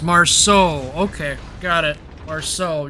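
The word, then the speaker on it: Marceau: after the German CV probably next or the Marcel oh Marse oh I can't say it pronunciation I have premium time I I run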